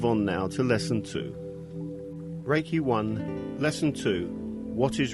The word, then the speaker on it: Reiki: meaning universal life force although the proper Japanese pronunciation is Reiki it has been westernized to Reiki Rey means Universal omnipresent